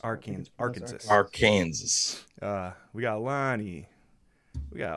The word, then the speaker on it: Arkansas: Brian, I think it's pronounced Arkansas. Arkansas.